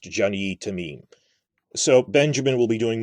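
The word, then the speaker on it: Jany Temime: It's French, so it's pronounced Jeannie Tamim.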